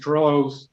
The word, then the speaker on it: Torello: Am I pronouncing that correctly, Joe? Torello?